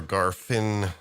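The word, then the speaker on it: Garthim: the Garthin, and mm, I don't know if it's Garthin or Garfin, because the pronunciation by just about every character in the film usually sounds like this, and they're going Garfin,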